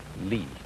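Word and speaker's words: 理: fiber in muscle and it's pronounced lee this is a character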